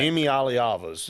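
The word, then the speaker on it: Iamaleava: did not get back Emy Alias is how you do how you pronounce it um I had to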